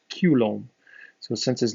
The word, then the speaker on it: Coulomb: was a french individual if you pronounce his name kind of properly as a french person where it's more pronounced culombe so since his name